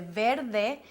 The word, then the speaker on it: verde: the difference between the verde you see we have an R right in the middle of the word and I pronounce it really soft Verde in drama since